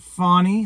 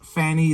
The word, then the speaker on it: Fani: Now, you'll notice in the mainstream media, they're pronouncing it Fani so that they don't pronounce it with the childish Fanny that will allow people like me to make fun of the name.